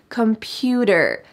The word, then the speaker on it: computer: a student computer computer notice that the t changes to a d sound in american english computer computer i've been using